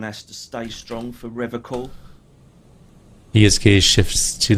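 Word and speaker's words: Revachol: to stay strong for River coal he is kaze shifts to the soggy pile of logs at his feet he pronounces a river call with a hard K unlike other people serious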